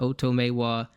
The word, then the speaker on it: Otomewo: and Tony Romo did not know how to pronounce his name but Oto Maywa his name Asesei the first name bigo as